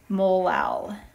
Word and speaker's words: molal: with a little m we would pronounce this 2.5 molal which sounds funny and just like with